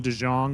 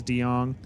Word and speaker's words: Dong: Called him De Jang, but it is Dong.